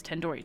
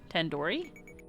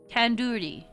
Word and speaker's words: tandoori: Surely you at least recognize Tendoori Chicken. You're saying it wrong. Wait, really? Tandoori. Tandoori. Oh, the do is not isn't like door. It's like do as in doodoo head.